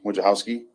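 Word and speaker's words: Wojciechowski: name yep it's wojcowski which house is spelled w-o-j-c-i-e-c-h-o-w-s-k-i it's exactly like it sounds just like it sounds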